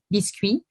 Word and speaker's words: biscuit: but in any case originally biscuit is a french word that is pronounced biscuit and biscuit literally means cooked two times the the objective in